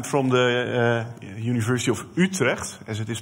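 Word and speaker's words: Utrecht: bck and I'm from the uh University of utre as it is pronounced uh in the beautiful country of uh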